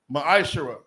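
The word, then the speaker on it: מעשר: Means 10th in the Hebrew is pronounced ma'ashara.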